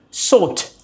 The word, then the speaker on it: sought: S O U G H T. Sort the the UK pronunciation of course I'm following that one.